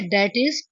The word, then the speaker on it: i.e.: इसे दैट इज pronounce किया जाता है।